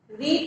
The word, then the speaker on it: read: रीड का हो जाएगा पास्ट फॉर्म रेड. रीड को हम पास्ट फॉर्म में कैसे प्रोनाउंस करेंगे? उस चीज को हम प्रोनाउंस करेंगे रेड.